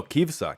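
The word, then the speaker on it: כביסה: Sheep is kvisa. Kvisa? Stress on the second syllable. Is this also like laundry? Just spelled differently? Somebody let me know. So kvisa. Oh, kivsa. Kivsa. Kivsa.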